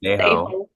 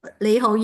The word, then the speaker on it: 你好: And Andy, do you know how to pronounce that in Cantonese? You I would know say it's Leiho. Leiho. Leiho, yes.